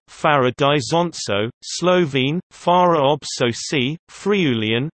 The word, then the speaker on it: Farra d'Isonzo: Farra di Sonzo, Italian pronunciation, Farra di Sonzo, Slovene, Farra ob Soci, Friulian, Fair, southeastern Friulian,